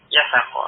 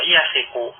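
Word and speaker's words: يثق: Al-sim itu bacanya bukan yasako, ya. Tadi wasako. Kemudian jadikan mudhari, ya. Wasiko atau wasako yasiku. Nah, bacanya yasiku an-nasu bitajiri.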